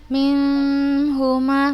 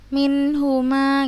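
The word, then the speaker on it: مِنْهُمَا: Kemudian ini nun sukun ketemu huruf ha, kita bacanya jelas, izhar. Fayata'allamuna minhuma, ya kan? Bukan ustazah bacanya minhuma, bukan seperti itu, tapi langsung kita baca jelas minhuma gitu. Buat di itunya izhar, dibaca jelas.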